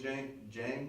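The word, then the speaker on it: Dieng: to get rid of Gorgie Jang, I think is how you pronounce his name. Yeah, Jang.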